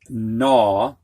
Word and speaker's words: gnaw: we're going with um the silent g coming before an n and i need to get my blocker so the first word is gnaw that means to bite